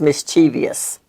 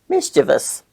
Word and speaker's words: mischievous: the word there is no such word as mischievous the proper pronunciation is mischievous it's the adjective form of the noun Mischief